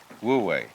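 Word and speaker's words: 無為: this one is wu, this one is wei, wu wei. Wei means to act, to strain, to strive, or to interfere. And so the Taoist manner of life is wu wei.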